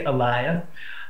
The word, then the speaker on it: alaya: then uh aliia um or you know Americans we pronounce it Alia but it's really aliia um and you're probably